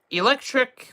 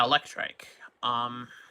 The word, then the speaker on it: Electrike: Electric, or Electrike, and Manectric? I think that's how you pronounce the first one. Yeah, Electrike. Electrike is fine enough, B.